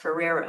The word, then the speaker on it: Ferriero: So the archivist named David, spelled Ferriero, and people have told me it's pronounced Ferrero. I don't know if he doesn't know how to pronounce his name or what, but I'm not happy with the man, you can tell.